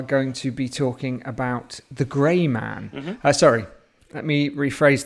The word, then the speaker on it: The Gray Man: Today we are going to be talking about The Grey Man. Mm-hmm. Sorry, let me rephrase that. The Greyman, which rhymes with your name, Eamonn.